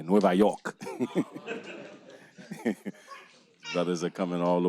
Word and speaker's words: Nueva York: coming all the way from Nueva York New York that's how you say it in Spanish by the way Nueva York brothers are coming all